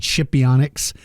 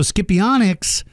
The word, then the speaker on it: Scipionyx: Some people pronounce it Scipionyx, but it was named after a Roman emperor, I think called Scipio. So Scipionyx, I think, is the correct pronunciation.